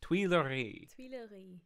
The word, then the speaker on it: Tuileries: Am I pronouncing that right? Yeah. Tuileries.